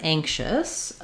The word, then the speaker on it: anxious: So, looking at the word anxious, we have the stress is on the first syllable, which means the ang syllable is going to be longer and it's going to have a clear vowel, and the chus syllable is going to be shorter and have a reduced vowel.